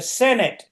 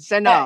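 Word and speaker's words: Senedd: twice in that conversation he said the Senate it's not the Senate no how do you pronounce it sen it's it's sen sen pronounce the it's if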